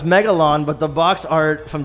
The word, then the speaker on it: Megalon: mega no but it's megalon but the box art from japan mega ron the l is not pronounced you know in japanese so they literally wrote our mega ron so i love it